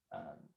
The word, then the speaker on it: Vite: Yeah, it's pronounced Vite. I had to I looked at multiple places to verify the pronunciation there. Also, my wife speaks a little French, and it's a French word, so that was helpful.